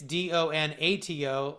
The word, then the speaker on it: Donato: And in case you might be phonetically challenged, like I can be at times, it's Donato, last name.